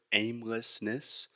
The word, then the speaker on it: aimlessness: complicated word that you break this word down into its most simple syllables so you want to separate it into its most basic parts so in this case we have the word aimlessness which just means aimlessness that you have no idea where you're going so we have aim Les Mis so start slow